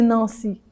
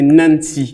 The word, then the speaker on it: Nancy: NANC nany waouh nan ça se prononce comme chez les Anglais ça oui c'est un nom c'est un nom anglopone c'est un nom anglophone français c'est Nancy ah français c'est Nancy